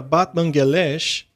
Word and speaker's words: Batmanghelidj: Bem, houve um cientista chamado Dr. Batmanghelidj, mas aparentemente se pronuncia Batmanghelidj.